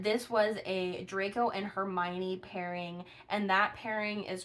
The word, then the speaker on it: Hermione: And that's Hermione. It's Hermione. Sometimes I say it wrong.